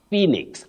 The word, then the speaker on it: phoenix: you're right young girl you say Phoenix not phix and not phix and not phix Phoenix Angeline CER of elate